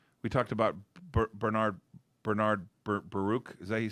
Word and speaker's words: Baruch: up there um we talked about Bernard Bernard Baruch is that you say his name yes uh